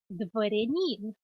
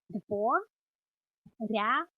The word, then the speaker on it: дворянин: You can also say дворянин. Дворянин.